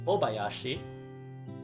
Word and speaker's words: Obayashi: when they're compounded together so instead of hayashi it's bayashi which kind of happens like if you were to think about like say covering your nose and trying to say that constant out that's sort of what you get so we get